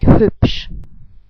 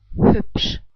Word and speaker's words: hübsch: You learned from my other video that the SCH is pronounced like sh in shy. So let's try to put this all together. We would pronounce it like hübsch. I say it again, like hübsch.